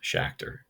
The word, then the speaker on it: Schachter: you see two-factor theory it rhymes with schachter right shacked or two-factor so you might see